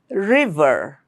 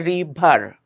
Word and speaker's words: river: Reason reason Rich road river. Make sure to pronounce the V sound correctly there. Okay. Your lower lip will touch the upper teeth. River. Don't make it bilabial. Don't say rebar. It's river rock ran.